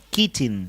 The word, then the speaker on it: Keating: Keating, se pronuncia.